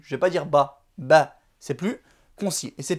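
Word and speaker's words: ب: Ici pour dire ba, on va mettre juste un petit trait au-dessus.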